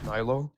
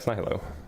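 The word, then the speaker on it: nihilo: Um, so why do you think that the universe was created at Nylo or Nilo, I guess, is the more accurate pronunciation.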